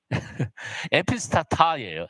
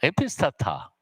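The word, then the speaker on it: ἐπιστάτα: 타우에서 T 발음이고 알파니까 아 발음이에요. 타우 알파 그래서 여러분 그냥 읽을 수 있어요. 뭐예요? 에피스타타예요. 에피스타타. 에피스타타.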